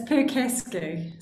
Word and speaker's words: Percasky: It's Percasky. So I've spent my life either spelling it or telling people how to pronounce it.